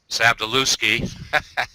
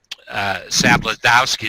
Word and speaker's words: Sabladowski: Well, Mick and I have a friend, Steven Sabdaluski, who, what, is that how I pronounce it? No, I'm kidding. Sabladowski is really how you pronounce.